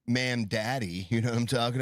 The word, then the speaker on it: Mamdani: It's more like Mam Daddy.